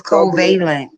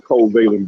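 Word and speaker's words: covalent: reason I'm telling you, the reason I'm telling you it's a science thing because in your science class, they tell you how to pronounce these terms that they teach you about. So, in science class, the teacher would have told you it was a covealent bond like she told us.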